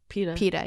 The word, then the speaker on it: PETA: And then after that, when you win, they made me start a Twitter fight with PETA on or it's, that's how you say it, right? PETA, yeah.